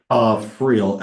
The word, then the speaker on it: Friel: Is it Friel or Free? How do you say it? Friel, Friel. Okay, I thought so.